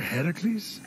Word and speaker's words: Heracles: doing there that thing with your voice a heracles yeah that that is how it's supposed to be pronounced seems like a lot of work but